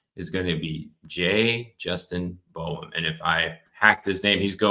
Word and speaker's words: Boyum: It is Boyum. So it's Boyum. exactly how it's spelled. It's like boy, but it's okay.